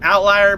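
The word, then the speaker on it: Ovtlyr: this channel I really recommend, Outlier, but it's spelled with a V, hosted by a guy called Chris Own, ULH is his last name, ULA, or UHL.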